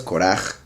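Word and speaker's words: קרח: están traduciendo como calvo, se pronuncia diferente, pero se escribe igual, ¿verdad? Ahorita voy a explicar qué prefiero. La palabra sería Keireach. Keireach sería calvo. Las mismas letras, Korach, es el nombre del usurpador.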